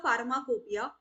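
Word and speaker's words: pharmacopoeia: so we know that although we pronounce it as pharmacopia but it does not start with the letter F so option A is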